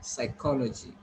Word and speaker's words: psychology: So this is sir. First of all, sir sound, then I, sigh, then k, then a, then l, then weak a, then there is j sound. This is not d. Okay, try to understand. If you are saying d, you are going to wrong. This is j sound, and then e sound. So you are going to call it psychology. Okay, not logy.